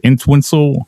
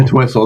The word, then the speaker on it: Entwistle: What I have in mind is the the Who's Keith Moon and John En- Entwistle. I know I'm saying the name wrong. Entwistle. That's pretty good. That's pretty close.